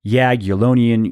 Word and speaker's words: Jagiellonian: al Borg University the National Institute on Aging Jagiellonian University Medical College and yeah I pronounced that one correctly I had to look